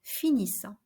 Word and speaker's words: finissent: And finally, notice that we don't pronounce the final ending ENT in il, elle finissent.